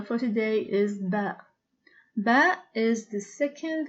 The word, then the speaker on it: ب: As far as the pronunciation of ba, it is similar to the b of book.